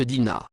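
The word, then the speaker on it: Digna: en occitan vivaro alpin le nom s'écrit dina selon la norme classique est se prononcent dina il s'écrit aussi dinho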